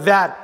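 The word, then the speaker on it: where: வேர் அப்படின்னா டபிள்யூஹெச்இஆர்இங்கிற ஒரு ஸ்பெல்லிங் இருக்குது, டபிள்யூஇஆர்இ அப்படின்னா இந்த ஹெச் இல்லாமல் வர்றதுக்கும் அதே உச்சரிப்பு தான், வேர். டபிள்யூஹெச்இஆர்இ ஹெச் வந்து இன்னொரு இடத்துல சைலண்ட்டு, டபிள்யூஇஆர்இ சிம்பிளாக வந்துடும்.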